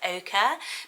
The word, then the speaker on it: ochre: So it's not pronounced how it looks, which I think makes it hard because you're not so sure how to say it, ochre, but Oakley and those